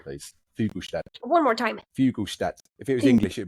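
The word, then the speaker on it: Fuglestad: Emmy, can you help me with my Norwegian pronunciation, please? Fugelstad. One more time. Fugelstad. If it was English, it'd be Fugelstad. Fugelstad.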